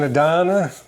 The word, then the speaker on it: Adana: It's called an Adana. They still make them. It's called a what? Adana. Adana. How do you spell it?